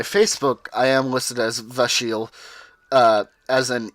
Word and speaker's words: Vashele: changed the letters and that's why I still pronounce it as Vasile and not not as a shell okay I